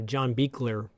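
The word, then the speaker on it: John Buechler: it's great um uh John beer uh that's how you say his name John beer rest in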